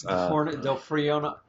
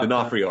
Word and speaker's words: D'Onofrio: So when she meets Dawson, oh Lord, Vincent, whatever his name is, Del Frio. It's spelled D'Onofrio. D'Onofrio. I don't know how. D'Onofrio.